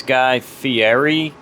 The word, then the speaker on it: Fieri: I'm gonna mispronounce his name, so go ahead and yell at me now. I think it's Guy Fieri.